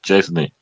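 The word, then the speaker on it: Szczęsny: Juventus performer Arsenal goalkeeper Chesney is how you pronounce it first name was that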